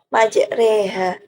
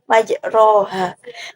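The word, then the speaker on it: مجريها: bunyi seperti dalam al-qur'an terdapat lafaz majreha yang mana jika mereka tidak mengetahuinya atau bahkan tidak pernah mendengarnya maka mereka akan salah bacaan atau salah dalam membacanya dengan dibaca majroha kemudian tujuan yang kedua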